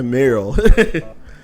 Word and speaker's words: Marle: O Crono tem Marle, Luca, Meryl, na verdade, a pronúncia é Meryl.